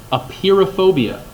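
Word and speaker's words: apeirophobia: the fear of infinity a peer of phobia not spelled like the word appear like tada I just appeared out of nowhere but oh yeah a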